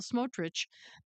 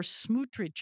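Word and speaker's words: Smotrich: Anyway, it says defense minister Israel Katz and Finance Minister Bezel Smootrich or Smutri I think is how it's said announced on Sunday that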